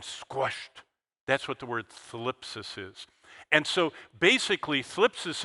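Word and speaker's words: θλῖψις: The main Greek word for this is thlipsis. How do you like that? That is a diphthong pronunciation that's difficult in English. T-H-L, thlipsis. It sounds like, something's wrong there.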